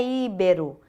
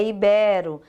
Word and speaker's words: ibero: Mas ela tem a sílaba tônica. Nas palavras paroxítonas, não é avaro. Caracteres, não é íbero, é ibero.